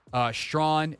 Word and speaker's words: Strawn: Strawn, a.k.a. the artist formerly known as Strachan until we all learned how to pronounce his name.